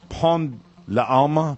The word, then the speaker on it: Pont de l'Alma: Lalma. Lalma Tunnel in Paris. There's a poster for the upcoming Princess Diana movie outside the Pont de l'Alma.